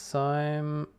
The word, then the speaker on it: Thyme: is uh th I think original name is time but I I pronounce it th th h ym e is